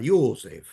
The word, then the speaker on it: Josef: Entonces yo le digo, bueno, mándele saludos a Josef, así, con pronunciación alemana, porque era el nombre de Ratzinger, ¿no?